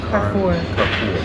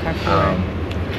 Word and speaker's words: Carrefour: Oh, no, I should pronounce that. Carrefour. Yeah, Carrefour.